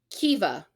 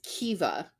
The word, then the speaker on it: Caoimhe: Caoimhe. Kiva. I Caoimhe is Kiva.